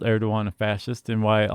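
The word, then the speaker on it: Erdoğan: And when we weren't sure how to pronounce it, and our video producer ninja Casey said, "Oh, Erdogan, fascist."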